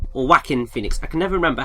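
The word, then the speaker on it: Joaquin Phoenix: here, is voiced by Yoken Phoenix or Wacken Phoenix. I can never remember how to pronounce his name. It starts with a J, don't it? Yeah, but it's pronounced like Whackin Phoenix.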